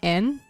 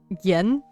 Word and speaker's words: yen: And I had no idea that they actually say en and not yen. So whenever I see it now, I say N. N, yeah, basically. It's like 100 yen are hyaku en. The Y is silent, and you could even, like, debate if the E is also silent.